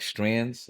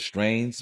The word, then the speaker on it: strain: like you know how people be like strands right and i'd be like that's not a word in cannabis strings that's you mispronouncing it yeah i know you're trying to say a bunch of strains but a strain is a strain yeah right but with